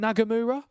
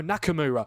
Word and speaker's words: Nakamura: Is it Nagamura? I think that's how you say it. No, Nakamura. Nakamura, the left wing back with the equalizer for Japan.